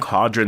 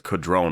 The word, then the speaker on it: Codron: we see codrone and I don't know if that's how you pronounce it exactly I've been saying quadron the entire time but Norman Reedus pronounces it differently he says kadron or something like that and yeah so I'm